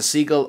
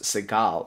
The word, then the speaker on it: Segall: science advisory committee for the cob Institute Professor seagull or pardon me I believe it's pronounced Seagal has authored many books including crossing the threshold